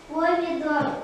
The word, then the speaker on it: помидор: Помидор. Ударение падает на слог «дон», на гласную «ор».